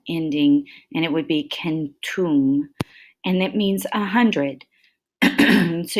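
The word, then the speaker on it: centum: Okay, and a lot of times they will add the ending, and it would be kentum, and it means 100.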